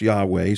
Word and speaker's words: Yahweh: Hebrew words here used one is we pronounce yah way so that's God's personal